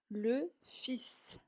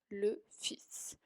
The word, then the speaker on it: le fils: La segunda, le fils. Le fils. Ven que ahí hay una L, pero en esta palabra no la vamos a pronunciar.